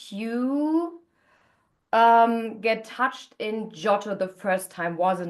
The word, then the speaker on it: Geotto: So um and it's like about your heart project and the hard project it's called ghetto. Do I pronounce that right? Jotto jotto.